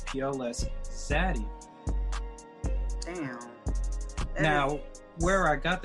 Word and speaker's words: Pls Xzady: So it's PLS, you don't have to say please, and then you have the letter X in front of the word Xzady without an extra D in the word Xzady. So you would just pronounce it Pls Xzady.